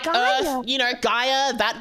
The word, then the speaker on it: Gaia Online: How do you even spell that shit? Gaia, It's like Gaia. Earth. You know, Gaia, that Gaia. Earth, Oh. Online. bro. Look, I'm gonna be real. Your accent was like Gayer.